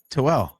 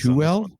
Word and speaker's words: Tooele: Figure out how this one's pronounced. T as in Tom, Oole. Toel. What about you, AJ? Something similar. Kale's got it. Tuel? Tooele.